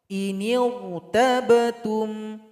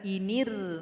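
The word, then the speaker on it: إِنِ ارْتَبْتُمْ: Cara baca sama, huruf ra-nya dibaca tebal. Contoh, inirtabatum, inirtabatum. Jangan inir. Nah, kalau bibir bawahnya masih tetap inir, itu bacanya kurang tepat. Jadi angkat sedikit ke atas. Inirtabatum, huruf ra-nya tebal. Inirtabatum.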